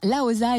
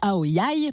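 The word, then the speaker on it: áo dài: alors précisons quand même Laos ou aoya parce que selon qu'on soit dans le sud ou le nord du Vietnam on prononce pas pareil apparemment c'est donc la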